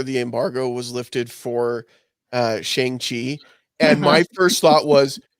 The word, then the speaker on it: Shang-Chi: I was saying it wrong. Shang-Chi. Shang-Chi. Like Sean. Shang-Chi.